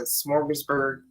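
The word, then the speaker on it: Smorgasburg: food festival in Brooklyn it's called I'm probably pronouncing it wrong but smorgburg uh it's in Brooklyn no that was right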